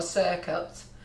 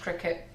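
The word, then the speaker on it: Cricut: probably call it or circuit but it's actually pronounced cricket i wondered why people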